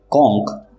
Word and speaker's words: conch: कॉन्क, कॉन्क, दोनों words के pronunciation same है। पहला जो वर्ड है कॉन्क, जिसका स्पेलिंग है CONCH, जिसका मीनिंग होता है शंख, सीपी।